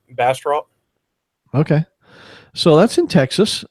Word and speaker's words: Bastrop: how it's pronounced basp it depends if you're in if you're from Bastrop Texas it's pronounced some other weird way and but we just refer to as Bastrop okay so that's in